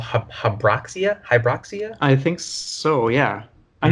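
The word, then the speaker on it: Habroxia: you're talking about yeah that pronunciation is a little I think it's hub rocks it or hydroxy ax h a b ro x i huh Brock SIA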